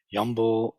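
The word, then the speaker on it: 염불: And so this kind of chanting is often referred to as Yum-Bul. Yum-Bul, which is the Korean pronunciation of in Chinese.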